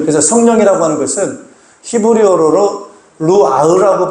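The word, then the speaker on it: רוח: 그래서 성령이라고 하는 것은 히브리어로 루아흐라고 발음을 하는데, 이건 영이고, 그 영이라고도 해석하지만 또 다른 말로는 따라합시다.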